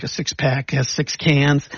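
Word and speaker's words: Cannes: about the can Festival a lot of people think it's pronounced Khan like James Khan and it's not a lot of think people think it's plural like a six-pack has six cans it's not it actually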